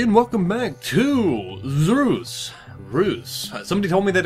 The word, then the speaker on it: Reus: welcome back to Zeus ruse somebody told me that it's pronounced like Zeus but with an R so I'm going with